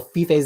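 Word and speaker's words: Fiffe: to this pronounce Michael fif's name it's not F it's fif okay heard heard and I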